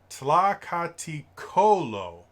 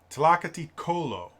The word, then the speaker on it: Tlakatikolo: It's Tlakatikolo. Tlakatikolo. Emphasis on the ko. Tlakatikolo.